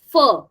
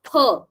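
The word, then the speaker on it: ㅍ: And please, please don't pronounce it as fur. Okay. Fur sound doesn't exist in Korean language. It's always per. Per. Okay. So it won't be fear. It will be peer.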